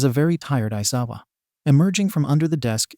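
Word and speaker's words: Aizawa: bag I am your home room teacher shouta isawa and yes that is how you say my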